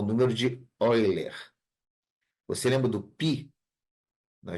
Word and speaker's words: Euler: correto é número de oiler se escreve eer ó se escreve Euler Tá mas Euler é no matemático alemão a pronúncia correta é eiler então é um Ezinho